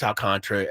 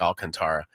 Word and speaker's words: Alcantara: I think it's Alcantra, although it gets confusing to me because it's spelled like Alcantara.